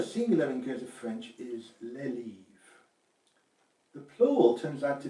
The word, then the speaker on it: les livres: in Guernsey French is les livres. The plural turns out to be les livres. So the becomes les, and an S is added to the word itself, although this S is not pronounced.